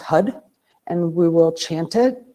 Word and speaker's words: Har: We will be I'm going to put on uh the what's called the tantric har which is h a r but it's pronounced hud and we will chant it.